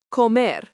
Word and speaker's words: comer: Let's look at this with another verb, comer, pronounced co-mer, means to eat.